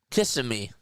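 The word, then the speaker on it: Kissimmee: Isn't that how you say Cammy? Now I got to look it up. Kiss him at me. pronunciation. Cimi kissing me.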